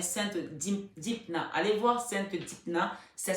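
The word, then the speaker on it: Dympna: Allez voir Sainte Dipna. Ça s'écrit D-Y-M-P-N-A.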